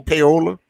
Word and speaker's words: payola: But one of those, we could not accept that money under the table because it was called PAYOLL, simply pronounced payola.